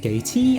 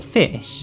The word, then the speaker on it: Ghoti: address this archetype's name you see goatee or fish is basically just an old joke about how messed up an english pronunciation is someone thought it would be funny to take the f sound from enough's gh the i sound from women's o and a sure sound from nation's ti uh um it makes